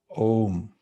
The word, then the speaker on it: Om: You see the figure here sitting in meditation, and this mantra is pronounced Om, and it's a seed mantra.